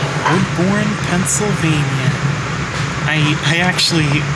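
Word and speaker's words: Woodbourne: All right, we just pulled into our next stop, Woodborne, Pennsylvania. I I actually mispronounced it as Woodvine, but yeah. Here's the But yeah, now we're in Woodborne.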